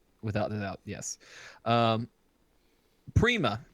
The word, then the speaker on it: Prima: is in in without the doubt yes um Prima p r i m a prima the way it's pronounced uh German exclamation of Joy recognition of